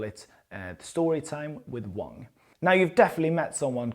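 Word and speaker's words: 王: Now, this character here, king in Chinese is pronounced Wong.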